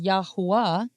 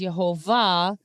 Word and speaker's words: Yahuwah: Which is Yahuwah, okay? Now, some people pronounce it in the modern way, which is Yehovah, but there is no letter V in ancient Hebrew.